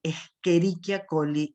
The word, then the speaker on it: Escherichia coli: Se lee Escherichia coli y no Escherichia, esto es latín, y la CH se pronuncia como en el italiano.